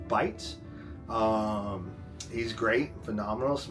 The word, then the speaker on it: Bait: his name is bite it's spelled bait B AI T but it's pronounced bite um he's great phenomenal